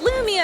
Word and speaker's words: Loomi: So it's Loomi on all of those, and the way you spell that is ITSLOOMI.